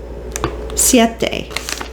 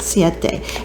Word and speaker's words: Siete: So I have found a wonderful replacement, Siete. That's how you say it, Siete.